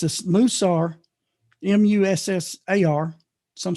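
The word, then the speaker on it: mussar: called musa it's it's a stud it's a moosar m-u-s-s-a-r some spell it 1-s some spell it too is the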